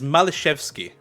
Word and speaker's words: Malishevsky: It is Malishevsky is the pronunciation for it.